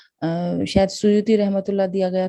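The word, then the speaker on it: سیوطی: Suyuti रहमतुल्लाह को अक्सर सेवती भी कुछ बाज़ उलमा प्रोनाउंसिएशन इनका इस तरह निकालते अदा करते हैं, तो सुयूती।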